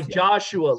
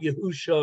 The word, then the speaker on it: Yeshua: of Yeshua yeah sure I would say yahshua like the Book of Joshua but in Hebrew exactly Joshua not yahusha or Yeshua I like to see